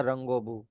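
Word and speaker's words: رنگ و بو: आप देख रहे हो ओ का मतलब है एंड हां जी और ओ इसको वाओ को ओ भी पढ़ सकते हैं और व भी पढ़ सकते हैं। रंग वब या रंगोब तो रंगोब मींस कलर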